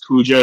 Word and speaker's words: Kuja: Oh, see, I pronounce it Kuya, but it's Kuja to everybody else that speaks normally.